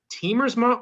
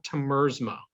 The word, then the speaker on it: Tiemersma: to butcher it so teamersma or temersma the first one's right man you actually got